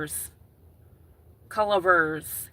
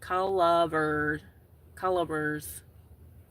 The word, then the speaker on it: Culver's: a list but culver vers colors. Collver colors, not verse.